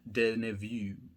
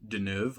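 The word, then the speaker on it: Deneuve: this is part of category number 41 starring Catherine de nevue actually I'm pretty pretty sure it's pronounced denove like Den Evil news anyways so I will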